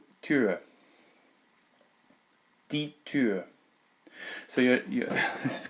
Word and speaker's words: Tür: you did an open and then closed your lips, it's that kind of a sound. Tür.